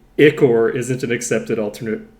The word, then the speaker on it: ichor: Ichor. And it's pronounced like Igor in Young Frankenstein.